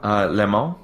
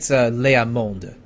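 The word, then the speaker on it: Leá Monde: Because remember, the last word the last letter in every French word, unless it's a vowel or C, F, R, and L, is basically always silent. So the D would be pronounced, but the E wouldn't. So Le Monde.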